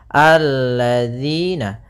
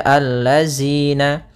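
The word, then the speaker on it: الذين: Maka kita baca di sini alladzina. Kemudian pada lafal di sini hati-hati dalam pelafalan jangan dibaca allazina. Yang sering terjadi kesalahan adalah membacanya zal dengan zai.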